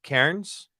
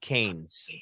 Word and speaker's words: Cairns: And it is pronounced Cairns, not Canes, by the way. There's no R in it, but for some reason they put an R in it. Yeah.